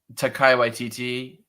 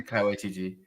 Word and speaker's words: Taika Waititi: I truly think if you like Taika Waititi as an artist, or Taika Waititi, I just like botched his first name.